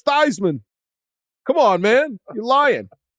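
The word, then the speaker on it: Theismann: that's him they say it's th it's it's thyman come on man you're lying greatest bit ever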